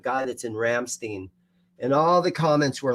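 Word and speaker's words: Rammstein: G guy that's in Ramstein and all the ments were like dude you're a dumbass yeah you have to pronounce it right it's like Frankenstein it's Ramstein just so you guys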